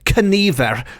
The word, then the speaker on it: Cynifer: The first one who finds one calls out what I'm taking to be Caniver. It is spelt slightly differently in the book. It's been anglicised to Cyniver, but I'm taking that to be Cynifer, because in the Welsh alphabet, F is the same as V in the English alphabet.